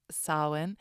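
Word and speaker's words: Samhain: old celc Celtic tradition sawin spelled s a m ha a i n totally not how you would think that you would pronounce it but pronounced Sinn and Halloween is actually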